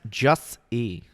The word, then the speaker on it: Jussie: It's pronounced Jussie.